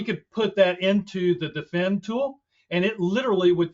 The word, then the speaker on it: D3FEND: Another tool that can be used is the defend, which is spelled D3FEND.